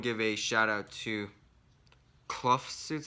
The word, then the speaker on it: Kloofsuits: So before that, I wanna give a shout out to Clough Suits, I think that's pronounced. K-L-O-O-F Suits.